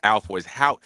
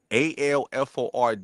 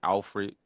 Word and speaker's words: Alford: Like my last name is Alford. It's spelled how you should say it. Alford, and everybody be saying Alfred and all that goofy, but the goofy.